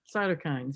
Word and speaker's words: cytokines: Cytokines, yes.